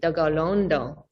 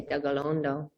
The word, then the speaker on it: Tekaronto: But also, we are based in Oswego in our treaty territory, and Tekaronto, or if you were saying it from a Kahnyen'kehà way of saying you and pronunciation, you would say Tegalondo, because T is a